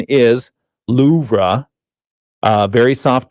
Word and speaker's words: Louvre: Babel says the the correct pronunciation is Loura.